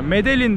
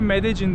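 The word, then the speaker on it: Medellín: Ya Medellin diye yazıyor, Medellin diye okunuyor. Kolombiyalılar Medellin diyor.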